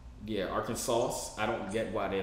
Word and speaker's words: Arkansas: everybody that lives here why we don't pronounce like the s's yeah arkansas i don't get why